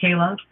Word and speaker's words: Kaile: Kaile is how you spell it, and it's pronounced Kaile.